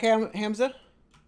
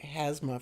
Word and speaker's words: Hamza: Welcome back, Hamza. I always want to pronounce it Hazma for some reason.